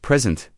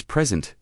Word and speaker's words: present: The same word can have a different meaning depending on which syllable is stressed. Like present, a gift versus present, to introduce.